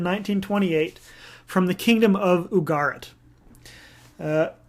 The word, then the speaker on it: Ugarit: texts discovered in 1928 from the kingdom of ugarit uh ugarit well sometimes said ugarit ugaritic or ugaritic just